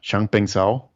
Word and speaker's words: Changpeng Zhao: meeting with sorry if I butcher his name, Changpeng Zhao.